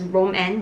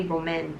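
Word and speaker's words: rom&nd: do not disappoint me I used to think that it was pronounced as Roman but it's actually Roman after I saw the owner pronounce it in one of her videos I really like it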